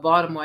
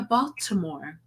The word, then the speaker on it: Baltimore: hear people talk about Baltimore and they're like, "Oh yeah, Baltimore." And they pronounce the T and the L and I'm like that's not how you say it. it's fucking Baltimore.